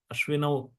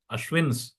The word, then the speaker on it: Ashwin: these two monkeys they are the sons of ashino Ashwin not ashin ashini is the feminine of the